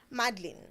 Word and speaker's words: Madline: So how do you like it to be pronounced? Madline. Madline. Oui, Just Madline.